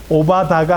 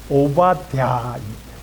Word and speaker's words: 오바댜: 발음이 어렵지요. 오바다가 아니라 오바댜입니다.